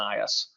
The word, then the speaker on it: IaaS: The way I pronounce it is SaaS, PaaS, and IaaS.